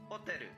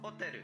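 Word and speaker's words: ホテル: Would you like to hear pronunciation again? Hoteru. Hoteru is Japanese for hotel. Hoteru.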